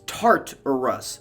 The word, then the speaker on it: Tartarus: next honorable mention is tartarus from greek mythology before anyone gets mad at me it's tart or rus spelled with two t's i am not disparaging